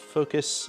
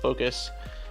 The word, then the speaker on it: Fokoos: and he told me it's just pronounced like focus so yeah i think